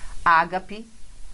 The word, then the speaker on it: Ágape: Ágape, perfeitamente correto, não é oxítona, não é paroxítona, é a proparoxítona.